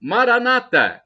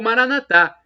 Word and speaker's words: Maranata: E agora, do aramaico, dialeto de Jesus, eu clamo Maranata, como dizem os evangélicos ou protestantes, com a tônica na penúltima sílaba, ou Maranatá, como dizemos nós católicos, com a tônica na última sílaba.